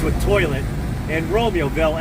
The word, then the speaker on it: Romeoville: Where I just was called Joylet, rhymes with toilet, and Romeoville, as in the play Romeo and Juliet.